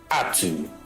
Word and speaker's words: Uttu: Or more like this is more like a reminder that UTTU is pronounced Atu. Like, why is it not just Utu?